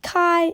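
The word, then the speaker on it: καί: and new makes M sounds try this it's pronounced Kai and it means and and you'll see it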